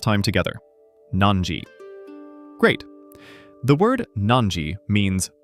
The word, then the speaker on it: なんじ: I will say it first. Nanji. Now, your turn to say it. Nanji. Let's say it one last time together. Nanji.